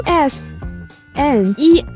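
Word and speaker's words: SONE: 韩语官方粉丝名叫 SNE，读音似英文的 So One，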